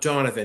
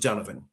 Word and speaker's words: Donovan: It's not It's not It's not um Donovan. It's We pronounce it Donovan. Donovan. Yeah, my dad's Donovan. D- D-U-N. Yes, it's the Irish way of pronouncing it.